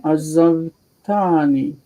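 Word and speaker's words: עזבתני: Okay, we're going to have the first syllable reduced, just like with zchartani, but it's a chataf patach.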